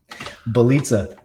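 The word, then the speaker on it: Bjelica: But hey, how you say it? Belitza. The J is silent.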